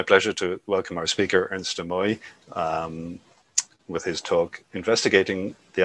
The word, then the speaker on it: Ernst de Mooij: Do you mind me asking, Ernst, what is the correct pronunciation of your surname? Ernst de Mooij.